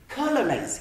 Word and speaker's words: colonize: one which is colonized colonized here we say colonize then the stress is here we are going to count the seconds the third the third syllable this one we say